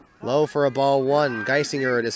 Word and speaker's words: Geisinger: He'll come back on in the bottom of the third against the 8-9-1 hitters, Nick Geisinger, Kelton Watts, and back to the top of the order in Drew Reiger.